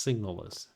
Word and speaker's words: SIGNALIS: are you welcome to Haren L signal or signals I got to keep calling it by its right name it's pronounced signals this plays exactly like Silent Hill with a